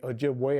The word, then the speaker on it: Ojibwe: Okanagan, the Onondaga, and the Ojibwe, although since most people pronounce the vessel as Ojibwa, we say Ojibwe are the people. Ojibwa is the vessel.